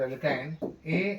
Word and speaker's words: alkyne: चलो, ANE अल्केन, अल्कीन, अल्काइन। तो थोड़ा सा एक्सप्लेन करते हैं। ALKANE अल्कीन, थोड़ा सा इसको रफ करते हैं। Okay, ANE अल्केन, अल्कीन ALKENE याद रखना, और अल्काइन ALKYNE अल्काइन।